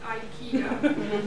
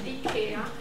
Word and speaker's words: IKEA: you i know that in the u.s you call it ikea but the right pronunciation is the care and being from scandinavia